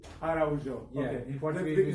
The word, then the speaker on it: Araujo: That's almost, but you are the best one yet. Really? Yes, it's Araujo. Araujo.